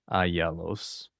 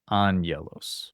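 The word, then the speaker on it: ἄγγελος: sounds like a new, which is like the N sound. So, it's angelos. angelos instead of agelos or aggelos. It's actually angelos.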